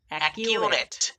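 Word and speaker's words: accurate: অ্যাকিউরেট, অ্যাকিউরেট। একটু ভালোভাবে লক্ষ্য করো। এখানে আমরা প্রথম সি এর উচ্চারণ করিনি, দ্বিতীয় সি এর উচ্চারণ করেছি।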